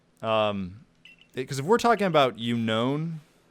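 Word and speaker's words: Unown: Because if we're talking about Unknown, it's not unknown. There's no K. So clearly you're not going to pronounce it like the word unknown.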